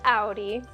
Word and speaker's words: Audi: we don't sell those it's like it is pronounced Audi and you just have to kind of find